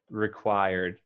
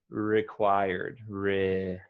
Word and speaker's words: required: say required okay required i wouldn't pronounce the the e um quite uh like the letter e but almost there more like required required required yeah and you want to emphasize the second syllable required required good okay